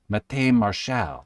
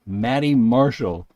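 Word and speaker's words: Matty Marshall: he always is like you don't pronounce my name mate mate Marshal it's Maddie Marshall because people give him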